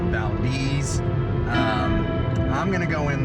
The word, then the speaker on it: Valdez: now Deez Nuts anyways it's spelled Valdez but they call it Valdez um I'm gonna go